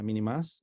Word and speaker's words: minimus: Les había dicho que tuve un entrenamiento en Tailandia y, por ejemplo, ahí está Anopheles minimus, así se escribe, pero se pronuncia minimas, y el dirus, que es dirus.